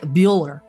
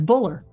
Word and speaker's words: Bueller: Yeah, but if you don't put it over there, it's Buller, right? You would pronounce it Buller without the.